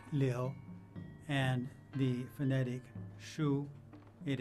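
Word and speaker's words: 流: obstruction it comes from flow pronounced leo and the phonetic shu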